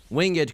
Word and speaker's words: winged: Winged creature like like winged, but you have an accent on the e like it's Shakespeare.